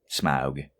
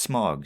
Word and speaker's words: Smaug: Smaug. Which I've always pronounced smog, so, I mean, I guess it is what it is.